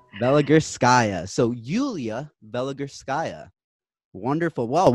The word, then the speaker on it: Veligurskaya: We have Yuliya Veligurskaya, and I definitely butchered your last name, so you're going to have to help me fix that. It's a Veligurskaya. Veligurskaya.